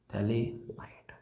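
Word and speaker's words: phthalimide: तो कैसे, ये होता है बच्चों थैलेमाइड का formula, this is द थैलेमाइड, ये P साइलेंट होता है, ठीक है, थैलेमाइड, ठीक है।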